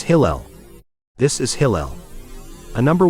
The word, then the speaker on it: Hillel: It's Hillel. This is Hillel. A number one big-time Jew. He called himself Alol or Halal, but today he is known as Hillel.